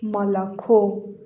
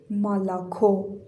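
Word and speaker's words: молоко: این او تکیه نداره صدای آ میده. این او هم تکیه نداره صدای آ میده و این او فقط او تلفظ میشه. پس این کلمه خونده میشه مالاکو.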